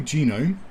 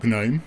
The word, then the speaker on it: GNOME: By that I mean developers using only Genome, or GNOME. I say Genome because I hate the fact it's called... I think I pronounce it Genome as well.